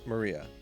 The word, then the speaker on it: Maria: is written like that of course that is pronounced Maria of of course the third character looks like